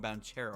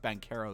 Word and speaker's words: Banchero: pick started paulo bankero or as some people call him banchero i guess i think it pronounced bancaro though because that's what they were saying the whole draft night um yeah it is that's what the pronunciation says to orlando a very